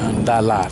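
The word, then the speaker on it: Đà Lạt: ก็ อยู่ ที่ เมือง ดาลัด นะ ครับหรือ ออก เสียง แบบ เวียดนาม ว่า ดารา นะ อัน นี้ ก็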